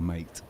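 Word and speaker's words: Maté: It's actually spelt mate, Gabor mate, but and there's no inflection on the e, so it really it should be pronounced mate.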